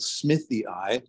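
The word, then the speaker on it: smithii: So there's one called radiata, and there's another one called Smithy I. In Latin names, if you see a double I, it's pronounced E-I.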